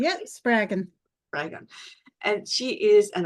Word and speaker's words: Spraggon: Did I pronounce that correctly? Yep, Spraggon.